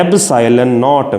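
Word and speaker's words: ε₀: Space और vacuum, और technically इसको ऐसे प्रोनाउंस करते हैं एब्साइलन नॉट। मैं स्पेलिंग नहीं लिख सकता, ऐसे याद रखना है, एब्साइलन नॉट, इसको बोलते हैं एब्साइलन।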